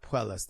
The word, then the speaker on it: Puelles: Puelles.